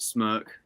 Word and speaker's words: SMRK: But yeah, you pronounce it Smirk, just Smirk without the I.